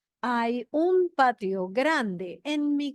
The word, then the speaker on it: hay: And remember, you do not pronounce the H. Hay un patio grande en mi casa. Hay 3 ventanas en la sala del chalet.